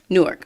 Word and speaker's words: Newark: Newark.